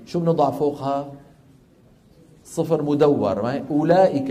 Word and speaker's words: أولئك: أولئك، الواو في أولئك، شو بنضع على الواو؟ صفر مدور. على أن هذه الواو لا تنطق أبدا، يعني ما حدا بيقول أولئك على هدى من ربهم وأولئك، ما حدا يفعل ذلك.